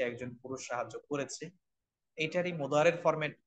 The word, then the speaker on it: مضارع: দ্বারা তো আমরা বুঝতেছি মুদারে শব্দটা হলো বর্তমান ও ভবিষ্যৎকালীন ক্রিয়া বুঝায় একটু আমরা নোটে রাখি বর্তমান ও ভবিষ্যৎকালীন ক্রিয়া আমরা শব্দটা উচ্চারণ করব মুদারে মুদারে মানে হচ্ছে বর্তমান